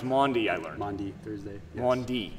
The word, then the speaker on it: Maundy: Thursday at 4:30 Good Friday 4:30 yes it's pronounced Maundy I learned Maundy Thursday 1d yes so and